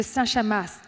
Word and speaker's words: Saint-Chamas: Général Christophe de Saint-Chamas, hein, on ne prononce pas le S.